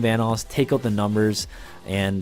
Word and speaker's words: Vanoss: new to this channel obviously my name is pronounced vanoss and if you guys screwed it up once